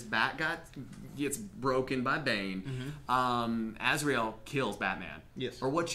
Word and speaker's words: Azrael: And I wrote it down because I have a horrible time with pronouncing words, so it's Azrael. Am I saying that right, guys? Azrael.